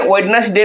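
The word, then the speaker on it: Wednesday: वेडनेस डे देखिए वेडनेस डे में जो है कि हमने साइलेंट आपको क्या बोला था कि बाबू रे इसको हम लोग वेडनेस डे पढ़ते हैं तो यानी कि इसमें से डी साइलेंट होगा जबकि देखिए दो में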